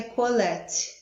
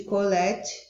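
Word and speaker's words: קהלת: autor identifica-se apenas com, eu acredito que esse termo hebraico se pronuncia colete, um termo hebraico que significa aquele que reúne ou ajunta.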